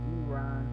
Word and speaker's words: Iran: Listen, it was reported that Iran, Iran, I guess that's how that's how you pronounce it. Iran does Iran. That's how you actually pronounce it cuz you said the I like English.